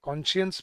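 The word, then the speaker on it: conscience: Cone और फिर साइंस जो हम लिखते हैं, कॉन्शियंस बोलते हैं इसको, कॉन्शियंस है अंतरात्मा की आवाज़।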